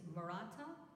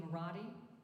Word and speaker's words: Maratta: In Italy, the name is Maratta. But you know how people come across through Ellis Island, things get changed, or just Santa Barbara that, you know, messes up the pronunciation of like Isla Vista should be Isla Vista, etc. The things that we can't pronounce. So when it came to Maratta, it just became Maratti.